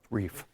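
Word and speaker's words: Reif: Reef. Reef. R-E-I. Long E.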